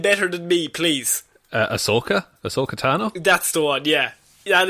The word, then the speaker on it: Ahsoka Tano: No, Do you know how to pronounce the name better than me, please? Ahsoka Tano.